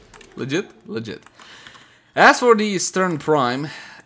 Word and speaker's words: Strun: I think we got the, the actual pronunciation is Strun, right? Strun.